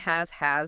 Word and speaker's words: has: Has, like is, has S, that Emma points out should sound like a Z.